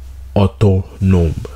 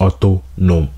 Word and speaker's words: Autonome: time i saw it i thought it was auto-tuned but then i read it it's otto nom you feel me so